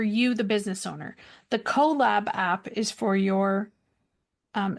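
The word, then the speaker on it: Kollab: memberships is that the goolab app yes and I believe they dropped the go it's just collab now like k o l l a b it's spelled with a K okay and um that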